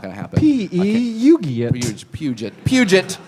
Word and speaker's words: Peugeot: Someone shouted out a correct pronunciation? Peugeot. My girlfriend is English, and she tried to teach me how to say, and after 5 minutes, I was like, it's just not going to happen. Puget.